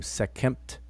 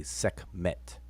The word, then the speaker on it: Sekhmet: and t so second some people pronounce her name sec kempt and we traditionally we you know ordinarily say sec met and then you see